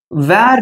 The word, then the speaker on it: were: happy yesterday I wasn't happy okay good next were not okay so you have to learn how to pronounce this word இது எப்படி வாசிக்கணும் அப்படினு பாத்தீங்கன்னா